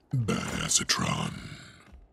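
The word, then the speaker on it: Badassatron: to myself or anything actually it's pronounced bad acetron okay you were wondering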